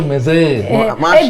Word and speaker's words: Marseille: Bacanya itu Marseille. bahasa Perancis, jadi itu Marseille itu R-nya di atas kayak cola.